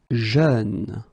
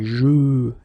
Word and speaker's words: jeune: Jeune, same thing, you don't say je, you say jeune, okay?